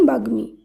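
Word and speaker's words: বাগ্মী: এই শব্দের শুদ্ধ উচ্চারণ যুগ্ম বাগ্মি এর শুদ্ধ উচ্চারণ বাগ্মি যুগ্ম বাগমি এই দুটি শব্দ রয়েছে গ এর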